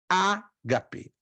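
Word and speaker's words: ἀγάπη: Qual é a correta pronúncia? Eu dou a ênfase no A. A. Mas o A não está acentuado. O primeiro A. Aliás, o primeiro alfa, desculpe. Mas está o segundo alfa. Mas a pronúncia é A. Ágape. Ágape. Eu dou a ênfase no primeiro alfa.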